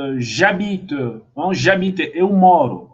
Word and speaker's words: J'habite: J'habite, mesma coisa, né? Esse H aqui é mudo. Acho que é isso, né? Esse H é mudo. Então, ele não influencia a minha pronúncia.